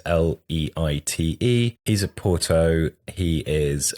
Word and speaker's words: Leite: And Diogo Leite, God knows how you pronounce it. It's Portuguese, Leite.